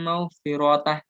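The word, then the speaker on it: مغفرة: Contoh, wallaha ya'idukum maghfiratan, aslinya. Tapi dibaca Allahu ya'idukum maghfirah.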